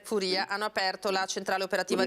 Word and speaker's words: Furia: Gabriele Furia Furia medicale Come si pronuncia correttamente è Furia hanno aperto la centrale